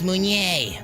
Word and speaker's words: Mounier: It's Mounier. Or air. 3 syllables.